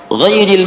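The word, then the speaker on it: غَيْرِ: Ghairil maghdubi alaihim waladdallin. Qara al-jumhuru ghairi bil jar. Mayoritas ahli qiraat membacanya menggunakan kasrah, ghairi i.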